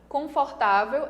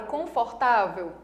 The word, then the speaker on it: confortável: A palavra confortável tem 4 sílabas. Última, olha só, última, penúltima, antepenúltima. Qual é a sílaba mais forte? Essa daqui é a sílaba mais forte. Se essa daqui, que é a penúltima, é a sílaba mais forte, é uma palavra paroxítona e não proparoxítona, ok?